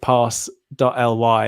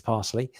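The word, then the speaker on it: Parse.ly: for pronouncing them because i was reading it pass dot l y and obviously it's parsley and you can see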